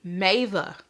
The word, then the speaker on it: Mava: the mo or Mo ah I practiced this one it is the mava yes I did one